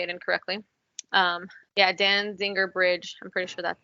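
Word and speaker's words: Danziger: so I don't say it incorrectly um yeah Dan Zinger bridge I'm pretty sure that's it it's loading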